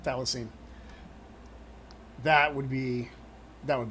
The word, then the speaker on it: thylacine: That's how you say it thylacine.